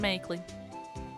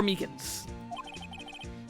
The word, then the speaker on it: Meekins: Actually, Officer Meekins of the detention center told us. That poor little doggy. Poor guy. I keep getting his name wrong, calling him Makeley. And don't talk about... I love Officer Meekins!